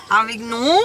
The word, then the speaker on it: Avignon: From the hotel, we are in Avignon. That's how you spell it there. Avignon. We're pronouncing it right.